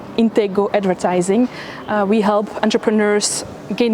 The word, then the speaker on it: Intego: It's pronounced with a silent C, but as Dutch people would pronounce it, it's Intego Advertising.